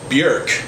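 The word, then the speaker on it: Björk: Iceland in 1965 and her name is actually pronounced Bjork like jerk Bjork's music is so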